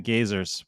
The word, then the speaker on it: Gazers: is the uh the gazers it's called the geysers but it's spelled g-a-z-e-r it's the name of